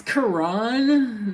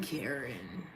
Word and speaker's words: Karan: It's Karan, not Karen.